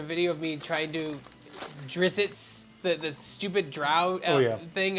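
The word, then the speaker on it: Drizzt: hour well I think it's just a double z followed by another another consonant it's like doesn't really feel good it's like zzt okay I'm not sure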